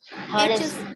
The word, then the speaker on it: honest: man Honest. honest. Yes, honest. H is silent.